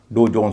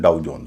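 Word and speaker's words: Dow Jones: सी एच ओ डब्ल्यू चाऊ डी ओ डब्ल्यू डाऊ इसको कुछ लोग कंफ्यूजन में या गलती से डो बोल सकते हैं। डो जॉन्स बोल सकते हैं। इसका उच्चारण डाऊ जॉन्स होगा।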